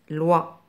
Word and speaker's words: loi: L avec le son wa se prononce loi.